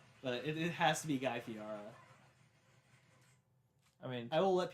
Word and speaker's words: Guy Fieri: It's not Guy Fieri, it's Guy Fieri. Is it? Yeah, that's how he says it.